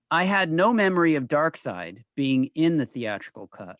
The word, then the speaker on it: Darkseid: know what's funny here you say his name because for years i always read it as dark seed i did as well